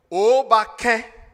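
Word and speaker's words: Akwaaba: So the greeting to welcome you in Ghana is Obake. Those of you have been saying Obake and Obake.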